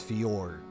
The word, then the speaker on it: fjord: So FJ is like in place of the Y. Kind of like Bjork, but it's Fjord.